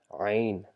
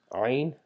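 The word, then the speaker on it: عين: part of your mouth, just try to bring this sound from the middle of your throat. Ain, ain, ain.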